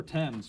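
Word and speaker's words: Thames: The the river tens it's although it's spelled t h a m- s was one of the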